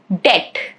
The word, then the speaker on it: debt: Plumber, dumb, thumb, debt, doubt, subtle. All of these examples, as you can see, letter B is silent.